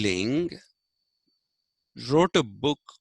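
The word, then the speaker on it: Laing: who went by the name of uh rd ling l-a-i-n-g or ronnie d-ling r d ling wrote a book called the skeezoid self schizophrenia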